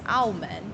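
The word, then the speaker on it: 澳门: But then Macau is Aumen.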